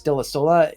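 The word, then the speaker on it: Dell'Isola: pronounce your last name we pronounce it de la Sola it's Italian delasoa well thank you so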